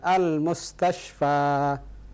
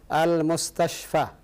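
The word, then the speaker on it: المستصفى: Tapi untuk lebih sahihnya ketika membacanya, jangan lupa dipanjangkan al-mustashfa, fa-nya dipanjangkan. Salah kalau antum baca al-mustashfa. Al-mustashfa artinya apa? Huruf terakhirnya apa? Fa. Tapi kalau anda bilang al-mustashfa, huruf terakhirnya adalah alif.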